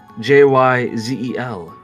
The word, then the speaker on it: Giselle: Her mother was named Giselle, Jyzel.